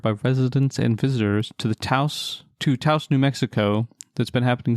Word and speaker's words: Taos: I actually don't know how to pronounce it. Is it Taos or Taos? Anyway. It's Taos. You're Taos.